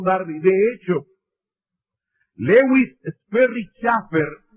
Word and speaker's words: Chafer: De hecho, Lewis Sperry Chafer, o Schaeffer, como se debe pronunciar en inglés, que es uno de